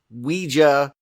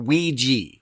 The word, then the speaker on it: Ouija: No matter how you do it, it's two syllables. And the first one is we and then you can go J or you can go G.